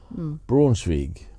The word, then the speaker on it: Braunschweig: We do, but and it's how you spell it. Braunschweig. Braunschweig.